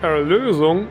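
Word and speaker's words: Erlösung: Yes, it's pronounced Erlosung and is actually written like this and means salvation in German.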